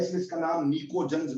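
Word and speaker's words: pnictogens: नाइट्रोजन family को हम एक और नाम देते हैं निकोजन्स। निकोजन्स, इसमें पी साइलेंट है।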